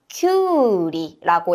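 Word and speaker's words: きゅうり: 그리고 우당과 유 뒤에 우가 올 때에는 우라고 길게 발음을 해 주셔야 돼요. 우리가 오이를 뭐라고 하냐면 큐리라고 해요.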